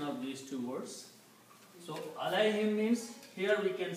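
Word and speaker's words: عليهم: Now in the tajweed, in the recitation, when we combine these, we do not pronounce this dhamma here, but we pronounce a kasra. So it is pronounced as alayhim.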